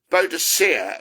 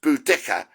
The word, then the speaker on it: Boudica: There are other funny females like Boadicea, or sometimes I think it's pronounced Boudica or Boadicea.